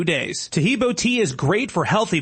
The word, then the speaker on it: Taheebo: Taheebo is spelled T like Tom, A-H-E-E-B like boy. Oh, that's Taheebo, and then continue with the word tea and then the word club.